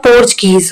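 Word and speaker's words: Portuguese: पुर्तगालीज इसे हिंदी में बोलेंगे अपन लोग, अगर इंग्लिश में ये पढ़ोगे तो इसका प्रोनाउंसिएशन होगा कि आपका पोर्चुगीज।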